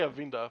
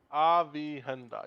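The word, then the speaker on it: Aviendha: I used to say Avinda, but Avihenda. Yeah, Avihenda. Jeez, I the need to count how mouthful.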